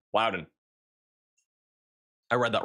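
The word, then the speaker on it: Loudoun: Lowden County, not London. Louden.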